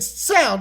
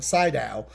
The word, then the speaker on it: Sydow: He plays the voice of Vigo, which Max Van Syl, if you are, I'm saying it wrong, Sydow.